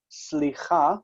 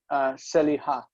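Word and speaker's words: סליחה: And so instead of saying slicha, which means excuse me or pardon me, slicha, they say, this guy said seliha, seliha.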